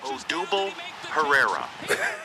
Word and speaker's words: Odubel Herrera: Pronunciation according to the internet. Odubel Herrera.